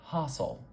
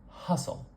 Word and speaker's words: hustle: one here uh uh so hustle might sound like hassle hassle just have to move our tongue a little bit further up in our mouth and shorten that sound and it comes out like hustle uh hustle it's the same